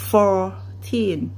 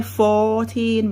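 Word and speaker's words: fourteen: แบบ นี้ ถูก ไหม เพราะ ฉะนั้น มัน ก็ ต้อง ออก เสียง ว่า for Teen for Teen เรา จะ ไม่ โฟร์ทีน แบบ นี้ นะ คะ ไม่ เอา อัน นั้น มัน เป็น สำเนียง ไทย ค่ะ เอา สำเนียง อังกฤษ เนาะ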